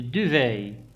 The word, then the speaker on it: duvet: The duvet. The duvet. On ne prononce pas le T.